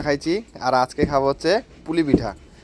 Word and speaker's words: পুলি পিঠা: Actually পুলি পিঠাকে আমরা কুলি পিঠাই বেশি বলি, উচ্চারণ যেটা করি ছোটবেলা থেকে কুলি পিঠা বলতাম, জানতাম না যে এটাকে পুলি পিঠা বলে, তাই তো? কয় রস্যু লয় রস্যি বলতাম কুলি, আর অ্যাকচুয়ালি এটার নাম হচ্ছে পুলি পিঠা।